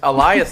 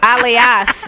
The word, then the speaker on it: Alias: Oh, it's Elias Society. Yeah. Elias. Alias, I believe is how you say that.